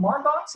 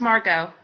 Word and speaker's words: Margot: Like I know, is it Margox or is it, how do you pronounce it? It's pronounced Margot.